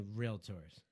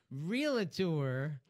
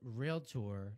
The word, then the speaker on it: realtor: right by the way the word is realtor not real it tore the menial it to a jacket or real it or is not how you pronounce the word it's a real tour like doc tour real tour doctor or real tour and by the way